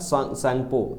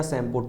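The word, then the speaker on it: Tsangpo: Known as यारलांग या सैंगपो, या इसको बोलते हैं यारलांग या सैम्पो, टी साइलेंट होता है यहाँ पर, टी साइलेंट रहता है, तो यारलांग सैम्पो बोला जाता है कहाँ पर, इन तिब्बत।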